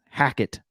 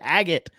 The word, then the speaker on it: Hackett: No, Hackett. Oh, Nathaniel Hackett? Because you said Haggett earlier.